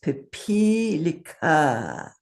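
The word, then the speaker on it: पिपीलिका: So the proper pronunciation of this word is pipilika.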